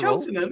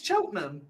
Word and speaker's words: Cheltenham: Cheltenham. Why aren't you saying the T? Pick a fucking battle. Yeah, Cheltenham. Yeah, pick a battle. It's either Cheltenham and it's Cotterill. It's not Cheltenham. It's Cheltenham.